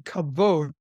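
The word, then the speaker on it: כבוד: right focal point you will mention the word kabode I'm glad you actually pronounced it right that's it often is pronounced you know but it's actually kavod and it's this wonderful world word that captures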